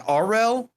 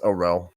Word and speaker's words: Orel: Well, before we go, is it Arel? It is pronounced Orel.